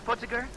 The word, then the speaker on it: Putziger: Putziger? How do you pronounce it?